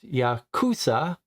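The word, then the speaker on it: ヤクザ: If the 3 cards drawn are 8, 9, and 3, pronounced Yakuza in Japanese, the sum is 20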